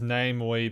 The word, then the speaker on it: Namewee: Oh, also, I've just said, don't mind me, says, I believe he pronounces it as Namewee because his name, Mingji, sounds similar to the word name. Basically, it's a pun of sorts.